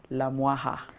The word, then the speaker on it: Lamwaka: good morning to Beatrice la wah ha good morning good morning see it's written as la huaca to the rest of us who wouldn't know how it's pronounced but I'm glad you corrected that Beatrice good morning my